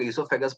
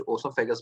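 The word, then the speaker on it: oesophagus: इसोफागस क्या food pipe इसको कुछ लोग इसोफागस बोलते हैं कुछ ओसोफेज बोलते हैं तो स्पेलिंग सही होना चाहिए बाकी कुछ भी बोल लो इसको ठीक है जो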